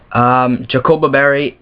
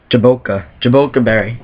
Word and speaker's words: Jaboca Berry: Jacoba Berry is how do you pronounce that? Jaboca Berry is what I recommend holding a Castform.